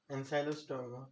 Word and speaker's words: Ancylostoma: Ancylostoma. It is ensylo. Ancylostoma You duodenum. you strike out C before L.